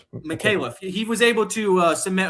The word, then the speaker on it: Micallef: How do we pronounce this last name, Pat? Micallef. Micallef.